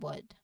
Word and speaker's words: would: So even though they are spelled with an L, when we say them, L is completely silent. We pronounce them as could, should, and would, not cold, wold, and should.